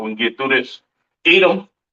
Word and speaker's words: Edom: Edom, Idawam, the devil that the Bible speaks of, your oppressor, the so-called Caucasian man, woman, and child, pronounced Idawam.